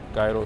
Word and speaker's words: gyro: Another decent falafel spot, gyro spot. Gyro is, I think, the proper way to say it.